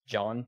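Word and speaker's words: Gian: for some reason PowerPoint autocorrected um it's actually pronounced John G i a an um and John is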